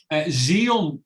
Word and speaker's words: Zhiyun: Xeon. I'm just looking for how it's spelled, because it's spelled funny.